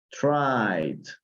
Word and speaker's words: tried: Recuerden, la mayoría no se pronuncia la E, como en este caso. Looked, tried.